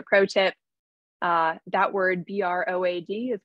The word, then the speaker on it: Broad: is just a pro tip uh that word b-r-o-a-d is pronounced broad um that is how you say the research